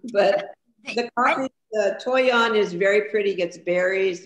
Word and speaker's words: toyon: There is the toyon. Toyon, okay. T-O-Y-O-N. Go ahead, Cindy. I was going to spell it out.